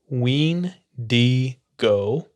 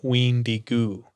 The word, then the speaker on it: Wendigo: into wendigoose as punishment it's pronounced ween d go or windy goo in the chippewa language so back to the